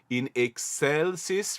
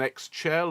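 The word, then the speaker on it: in excelsis: the teners O Exel we are singing with the German pronunciation in excelis rather than X chel or egg shell CE and so bear that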